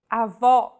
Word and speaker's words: avó: Avó. This word means grandmother. If said with a closed vowel, it would mean grandfather, and with no accent at all, avo.